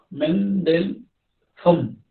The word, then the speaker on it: Mendelson: Mendelssohn, que se escribe con una Z, Mendelssohn. El señor describió hace años que se puede producir una neumonitis intersticial cáustica por aspiración de contenido de bucofaringe.